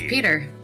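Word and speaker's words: Pyotr: I think you said it. Peter? It's Peter. Russian composer. It's just how they spell Peter.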